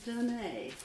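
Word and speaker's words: donné: There's first of all that gift, that insight, the donne, as we call it, D-O-N-N-E, with an accent on the E, which means the given.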